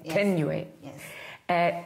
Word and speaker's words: Thenjiwe: You're from Thenjiwe, is that the correct pronunciation? Thenjiwe.